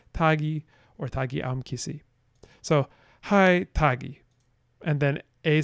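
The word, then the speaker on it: kai: bidai then B says hi spelled k-a-i but pronounced with an H sound that is not elsewhere in this language hi which means something like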